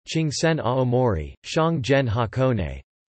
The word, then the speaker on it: 箱根: However, the majority of Japanese place names are read with kunyomi: Daban Osaka, Chingsen Aomori, Shangzhen Hakone.